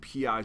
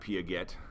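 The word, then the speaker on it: Piaget: to talk about p and that's how you pronounce it it's p not pagette um so I don't want you to sound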